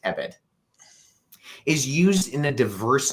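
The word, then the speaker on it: עבד: If for no other reason, then the Hebrew word used, which is spelled ayin beit dalet, pronounced ebed, is used in a diverse number of ways throughout the Old Testament.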